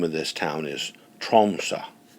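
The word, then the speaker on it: Tromsø: the um Norwegian language the final o on the word troma has a diagonal line drawn through it and it's pronounced a little bit like a soft a so the name of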